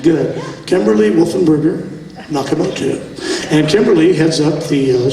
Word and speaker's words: Kimberly Wolfenberger Nakamoto: Ladies and gentlemen, this is my dear friend Kimberly Wolfenberger Nakamoto. Did I say it right? Say it again. Did I say it right? Good. Kimberly Wolfenberger Nakamoto.